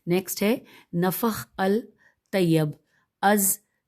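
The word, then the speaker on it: نفح الطیب: کرد علی۔ نیکسٹ ہے نفخ الطیب، از لمقری احمد بن محمد، ہم ہجے کریں گے نون فیخ نفخ الطیب، الف لام طیب نفخ الطیب، از لمقری لام میم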